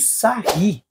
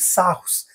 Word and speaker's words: Sarrus: ensinar o método de sarri. ou muitos dizem que não sabem a pronúncia, é método de sarros, mas o correto é sar, é um francês.